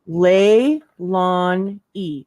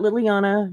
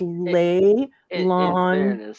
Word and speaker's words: Leilani: gonna climb the walls it's not that hard lay Lon e not Liliana not Lele no none of that it's lay lawn how about we I